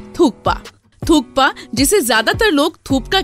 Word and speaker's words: thukpa: जिसे आप में से बहुत सारे लोग थूपका बोलते हैं। लेकिन यह थूपका नहीं होता थुक पा होता है।